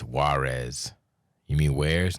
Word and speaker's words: Juarez: dumb I actually think you're supposed to say it like where's it supposed to be where's but I used to say water yes there's a light